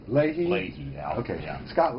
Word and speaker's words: Leahy: It's pronounced Leahy. Leahy?